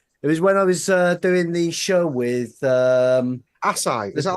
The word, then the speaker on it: acai: Akai. Oh, Is that the nice. chocolate one? Akai. It's actually pronounced acai.